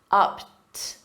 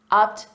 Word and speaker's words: upped: The ED is pronounced as a soft T, upped, upped, the ante.